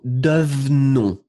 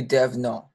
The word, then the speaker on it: devenons: Et en fait, le deuxième E, il va presque disparaître. C'est-à-dire que vous allez prononcer nous devenons. Nous devenons.